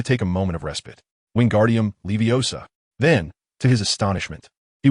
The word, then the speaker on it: Wingardium Leviosa: Pay close attention to my pronunciation. Wingardium Leviosa, be cautious if you pronounce the ephesis.